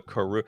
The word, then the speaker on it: Karoo: Oh, I thought they were calling them crew lands, and I was confused. No, they were called the Karoo.